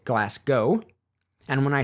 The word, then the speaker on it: Glasgow: When I say Glasgow, apparently it sounds like I'm saying Glasgow, rather than the more accurate Glasgow.